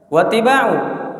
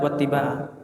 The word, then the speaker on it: wattiba'a: Wattiba'u ma amarahu bihi. Ya. Ini bacanya wattiba'a ya, yang benar wattiba'a.